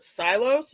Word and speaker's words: Silos: with uh Ray Garrison otherwise known as a silos is that how you say it yes yes